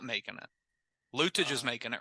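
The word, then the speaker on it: Luetge: Lutage is making it, right? His name's yeah, Lukey. Lutage will be there. Lukey is how you pronounce it? It's Lukey.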